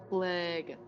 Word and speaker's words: Phlegethos: Phlegethos, yes, it is Phlegethos.